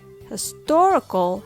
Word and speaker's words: historical: the stress on his historical has the stress on tor history historical in english the rhythm of stressed and unstressed syllables are extremely important because when you say historical it sounds off when you say his story that doesn't sound good either when you learn a